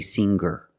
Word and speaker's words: singer: r together hang hanger there's no G sound I cannot say hanger I cannot say singer it's hanger and singer example he has hangers